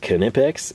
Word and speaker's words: Knipex: the it's pronounced cannipex is going to set